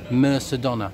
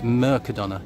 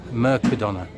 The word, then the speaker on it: Mercadona: videos this year and people are calling it Mercadona. We're not in Mercadona, it's Mercadona, the C is a K, Mercadona, not Mercadona.